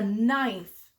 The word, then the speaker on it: knife: key this is a knife that's a tricky word it starts with the King but you don't hear the K sound that's called a silent letter that's silly huh what